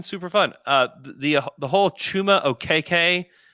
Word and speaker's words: Okeke: They told him, because he was pronouncing it Okiki, they told him like, you're pronouncing your name incorrectly. From your lineage, it's OKK.